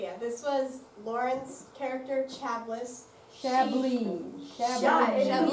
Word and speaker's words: Chablis: Okay, yeah, this was Lauren's character, Chablis. Chablis. Yeah, in the Chablis? movie it's Yes. Chablis. Pronounce Chablis. Oh, I've been pronouncing it wrong. It's French. Like the wine, Chablis. I wouldn't know that.